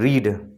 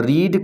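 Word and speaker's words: read: spelling वही रहता है लेकिन हम रेड पढ़ते हैं उसे आई हैव नॉट रेड और उसके बाद फिर जो है स्पेलिंग वही रहेगी रीड लेकिन उसे पढ़ेंगे हम रेड रीड रेड रेड first form रीड second form रेड और थर्ड फॉर्म रेड और स्पेलिंग वही रहेगी आर ई ए डी तो वर्ब की थर्ड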